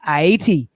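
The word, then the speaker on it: Ayiti: or i80 i'm sorry iat all right yes i like i started to pronounce it like a westerner haiti you know but it's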